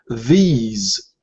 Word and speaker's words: these: Yeah, you have to prolong this. Ease. Yeah. These. And the TH, it's like the. We have two different TH sounds. The soft, or the unvoiced, and the voiced. The unvoiced is thin, for example, thin. Voiced, the, or these.